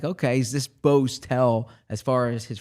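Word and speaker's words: Mbow: told you about but Marcus mayo or Marcus bo b oh the M silence M silence I'm sorry I got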